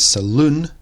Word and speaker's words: saloon: a beauty treatment whereas saloon as the emphasis on the second part and a saloon could